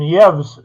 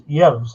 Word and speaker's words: Yves: Yeah, and Yevs is the way, YVES. His name is Yevs, is the proper pronunciation, I believe.